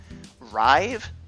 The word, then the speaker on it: Rive: heard good things about, Rive, and no, I'm not mispronouncing that, it's R-I-V-E, Rive, Runbow, Runbow, get hype.